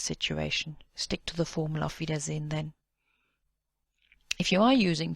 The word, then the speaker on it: Auf Wiedersehen: Auf Wiedersehen, and it's pronounced almost as if there wasn't an E at the end. Auf Wiedersehen, or Tschüss.